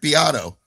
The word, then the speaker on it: Beato: Beato Beado? Ricky Beado? Rick Beato.